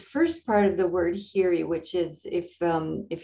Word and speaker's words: hiri: yeah so this first part of the word hiri which is if um if you're not able to access the chat is spelled h-i-r-i in poly and hiri is um